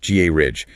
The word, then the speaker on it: garage: Don't paint it canary yellow. And definitely don't call it a gayway h. Clip it. Ga ridge. Match it to carriage.